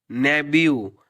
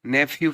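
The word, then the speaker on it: nephew: नेब्यू, हमेशा याद रखना है इसको नेब्यू पढ़ते हैं, बहुत से लोग नेफ्यू पढ़ते हैं। नेफ्यू गलत उच्चारण रहता है इसका, नेबियो जो है बिल्कुल करेक्ट रहता है।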